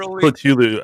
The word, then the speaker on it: Cthulhu: Next thing I know, I'm going to be worshiping Cthulhu. Cthulhu. I know it can be pronounced Cthulhu as well.